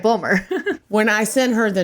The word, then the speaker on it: Bulmer: in an interview and they introduced me as Bloomer and I'm like that's fine whatever but you said it right you said it right bumer when I sent her